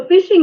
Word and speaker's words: phishing: Yeah, so phishing is kind of like the word, it's spelled PH, but it's almost like fishing, like you drop a